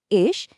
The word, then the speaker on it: ich: इश, इसका प्रोनाउंसिएशन थोड़ा इश जैसा होता है।